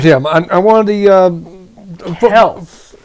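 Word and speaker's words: Kelce: Now you know how Mama Kelsey felt last Super Bowl when her sons went at it.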